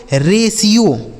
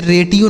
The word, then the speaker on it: ratio: अगला शब्द है RATIO इसे पढ़ा जाता है दोस्तों रेशियो। क्या पढ़ा जाएगा, रेशियो। इसे रेटियो नहीं पढ़ेंगे। यहाँ जो टी लिखा है ना इसका उच्चारण हमें सा करना होगा।